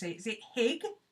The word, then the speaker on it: Hygge: Is it Hig or Hug? Inlay, you'll probably be able to tell us. She's from around that area. She might have a better idea of how to pronounce it. She's Scandinavian, at least. Yeah, Hygge.